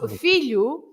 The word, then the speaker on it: filho: So filho. Filho ends with the O, and the O at the end of a word is always this sound U, right?